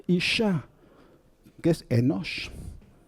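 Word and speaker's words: אִשָּׁה: de la letra nun, el hebreo tiene un mecanismo compensatorio que es duplicar el sonido consonántico de la letra siguiente, que es la shin. ¿Y cómo se escribe eso? Pues así. Isha. Isha. El puntito dentro de la shin, que se llama dagesh forte en gramática hebrea, es quien me dice el origen de la palabra isha, que es enosh.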